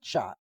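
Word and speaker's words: shatt: Because you're a shitsh shot. Shot rhymes with thought.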